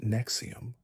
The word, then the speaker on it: NXIVM: NISM, pronounced Nexium, presented itself as an executive coaching program promising to unlock human potential and eliminate psychological limitations.